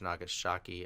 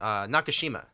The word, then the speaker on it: Nakashima: was working for George Nagasaki and I say his name right Nagasaki Nagasaki in each city like this no no nakashima open APIs yeah the